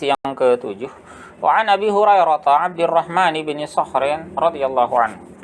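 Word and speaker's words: هريرة: Abu Hurairah ini huruf ta marbutahnya biasanya dibaca dengan fathah ya sebagai isim la yang sharif. Hurairah. Meskipun ada sebagian ulama yang membacanya dengan kasrah ya Hurairatin.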